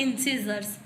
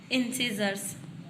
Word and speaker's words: incisors: सबसे पहला है इंसीजर्स। सीजर्स सुना आपने? कैंची जो होती है उसको सीजर्स कहते हैं, ठीक है, उसका स्पेलिंग अलग होता है और ये अलग है, बस वो प्रोनाउंसिएशन सेम है।